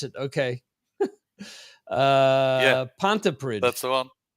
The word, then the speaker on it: Pontypridd: Yeah, Pontypridd. that's the one. Oh, you're close. Okay. That wasn't bad. It's actually Pontypridd. Pontypridd.